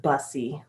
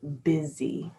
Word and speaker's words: busy: talk about words um look at this word here busy looks like bussy but it's pronounced busy so everyone is busy